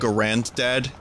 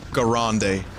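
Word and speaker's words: Garand: I'm trying I'm trying you in the M1 Grandad. Leave. How dare you make that joke? That's terrible. Over not letting It's actually pronounced Gande.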